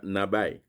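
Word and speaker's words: נביא: Et deuxième mot, qui sorti dans l'hébreu, c'est Nabi. Il a prononcé Nabai.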